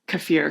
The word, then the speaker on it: kefir: Yeah, I noticed we have two camps on how to pronounce it as well. So I was taught kefir, so yeah, that's how I say it. But kefir, I've read, is really